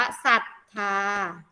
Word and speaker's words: ศรัทธา: ก็ จะ อ่าน ว่า ศรัทธา เฉย ๆ ยัง ไง คะ ไม่ ออก เสียง ร เรือ ส.